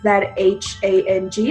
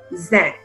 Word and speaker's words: Zhang: So when it's spelled as my last name with the H, it makes a J sound, like the J in George. So it's actually pronounced as Zhang instead of Zhen.